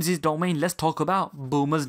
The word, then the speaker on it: Bulma: garment of bloomers in Japanese the enunciation of boomer is boomer and phonetically if you were to spell that out is B you are you ma over here in the West it has been pronounced Bulma and spelled bul ma the spelling of bloomers